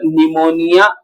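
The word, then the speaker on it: pneumonia: कुछ पीपी एल ओ निमोनिया pleuro like organism. हां इसका पूरा नाम है निमोनिया। निमोनिया की स्पेलिंग एन से नहीं पी से शुरू होती है।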